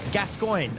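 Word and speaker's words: Gascoigne: exp that I'm fighting through the burrito want gascoin okay thank you how the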